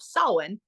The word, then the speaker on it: Samhain: integrate the the Pagan celebration of selwin spelled Samhain because personally I think the